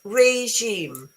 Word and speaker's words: regime: It's regime. Regime. So R as in run, A as in day, J as in vision, and sheep and moon.